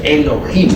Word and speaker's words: Elohim: divinidad diosas y dioses Eso significa Elohim o mejor dijéramos Elohim porque la H se pronuncia como j estos Elohim son como